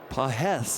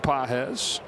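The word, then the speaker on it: Pagés: Pedro has the emphasis over the second syllable. Andy doesn't have any. He doesn't have any syllables?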